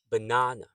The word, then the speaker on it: banana: So you can hear that the second sound is stressed na. So the banana has three a's. So the second a is the stressed a. The first and the third arew a schwa sounds. Banana. Banana. So when you say it quickly, it's banana.